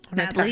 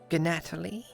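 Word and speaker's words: Gnatalie: Natalie it is Natalie is my full name oh but with a G yes g is silent I see gatal I won't keep saying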